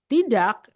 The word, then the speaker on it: tak: So, tak sometimes we do not pronounce the K at the end.